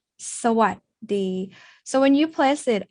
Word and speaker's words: สวัสดี: Thais don't say like a robot like this. สวัสดี Instead, we say สวัสดี So when you place